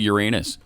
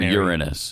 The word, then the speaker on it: Uranus: It's always been pronounced both ways. And even on all the science star uh space things I watch, they it goes both ways. Mostly probably Uranus, okay, over Uranus.